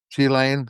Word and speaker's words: Ghislaine: Ghislaine? Okay, all right. So I got it. It's spelled Ghislaine.